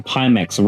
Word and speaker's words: Pimax: Polysix says, there's a reason PIMAX rhymes with anticlimax.